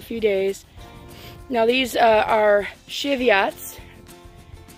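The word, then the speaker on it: Cheviot: these are shitty aughts I try to pronounce that the right way um but if I'm not I apologize but that's how most people I know in our area pronounce it Shevat sheep I always this remember Chevy truck can go with it that way these are just spring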